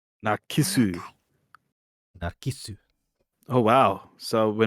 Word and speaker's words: Narcissu: Oh, that's how you pronounce it. Narcissu. Narcissu.